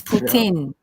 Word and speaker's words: poutine: you're not speaking properly what's the correct pronunciation it's poutine so it's easy thing